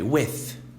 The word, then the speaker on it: with: With. I'm with you. Estou com você. With. Se você fazer o F, tá incorreto, não é essa pronúncia, mas tem som, por